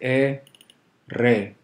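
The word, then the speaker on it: erre: ere and it's pronounced e re it's always strongly trilled think of a drum roll so there is a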